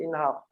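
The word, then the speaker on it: انحر: Cara bacaannya kalau mula kat situ inhar. Kalau sambung wanhar. Kalau nak mula ke hamzah inhar.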